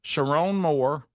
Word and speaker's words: Sherrone Moore: Sherrone Moore? Is that how you say it? Mhm. Yeah. Sherrone Moore shocking dismissal.